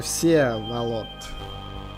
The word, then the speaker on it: Всеволод: Да-да, извините за ударение. Всеволод. Ударение на Е.